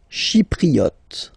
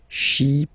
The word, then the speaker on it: Chypriote: Chypriote. Remember this Y is pronounced like I, okay? Chypriote. Chypriote. Okay?